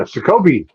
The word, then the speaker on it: Shakopee: Yeah, Shakopee.